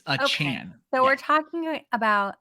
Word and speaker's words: Achane: But I heard it rhymes with train, chain. No, he wants it to be Chan. It's Achane. So we're talking about Achane.